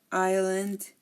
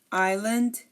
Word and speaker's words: island: debris we also have Island and we have Isle again notice that I did not pronounce the s in any of these again I Bourgeois deep breathe Island and Isle as well